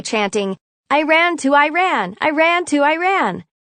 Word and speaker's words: Iran: i ran to iran i ran to iran the correct pronunciation i always informed them is iran iran is a sentence i told them as